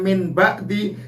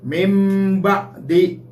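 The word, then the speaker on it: مِنْ بَعْدِ: Cara membacanya, tulisannya min ba'di dibaca mim ba'di. Nun matinya diganti mim mati.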